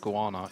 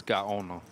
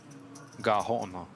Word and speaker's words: Gaona: It's not Guana, it's Gaona. Gahona. Gahona. Gaona.